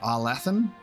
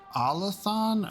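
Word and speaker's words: Arlathan: forgotten I think I used to say it R Latham but then I think in the game it's pronounced allathon oh my God so many different ways you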